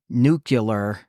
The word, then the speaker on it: nuclear: first second grade whatever look at the way the word is spelled and sound it out there is no way that CL sounds like Q okay like n u it's like clear at the end of the word and Nu so it's not nuc